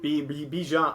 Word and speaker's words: Bijan: Bijan.